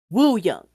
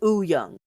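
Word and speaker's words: Wooyoung: You would think that it was pronounced Woo Young, right? Uh-huh. It's not pronounced Woo Young. It's Huh. pronounced Woo Young. The W is silent. His name is Oo Young.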